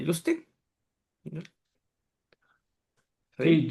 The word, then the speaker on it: Justin: eh, ¿cómo se pronuncia? Justin. ¿No? ¿Sí? Sí, Justin.